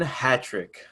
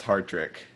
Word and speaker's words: Hartrick: the comedy association hattrick what's up what's up uh you know me for a long time you should know my last name is pronounced hard trick dude i have always